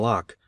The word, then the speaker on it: Locke: i read hume and locke and partly understood them i think though i did not know that lock is pronounced in only one syllable till many years after